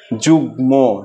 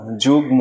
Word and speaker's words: যুগ্ম: যেমন যদি আমরা গ এর সাথে মফলা যুক্ত করি এরকম শব্দ যেমন বাগমি বাগমি যুগ্ম যুগ্ম কারণ গ এর সাথে মফলা যুক্ত হয়েছে এজন্য ম এর উচ্চারণটা আছে অনুরূপ হবে যদি দন্তান ন এর